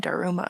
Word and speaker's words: Daruma: Okay, so I always assumed it was DarumaCreative, like Dharma, because I thought it was tied in with the Dharmatic wheel, which is when you're